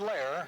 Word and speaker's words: Lair: And Brad Lair, yes, rhymes with Ware, as in Andre Ware.